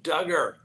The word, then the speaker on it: Duggar: next on the docket Josh Duggar rhymes with hugger well as you know